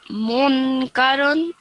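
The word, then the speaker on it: منكرا: Munkaran. So first of all, how do you say it when you're pausing over here?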